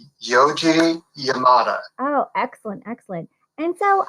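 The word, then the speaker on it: Yoji Yamada: check out how do you say his name yoi Yamada right yoi Yamada oh excellent excellent and so um you know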